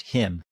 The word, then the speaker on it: Jim: Like that lends to an even more dangerous Jim Walmsley. Oh, and I think it's pronounced him, actually. Soft him J. Walmsley. It's a soft J.